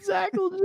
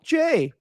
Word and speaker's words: Zakelj: But Zackle J is not it. Zackle J. It's just Zakelj.